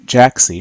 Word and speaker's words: Jaaxy: word is worth going for or not so Jack C which is spelled J a a X Y is web-based